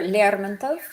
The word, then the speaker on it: Lermontov: We're going to start by talking about Mikhail Lermontov a little bit, or Lermontov is how you say it.